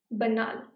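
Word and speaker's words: banal: बनाल, बनाल का भी प्रोनाउंसिएशन देखो, बनाल. ओके, बनाल. This is from French.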